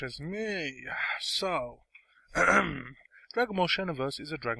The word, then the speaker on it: Xenoverse: If I do pronounce it wrong, I do apologize. It's Xenoverse.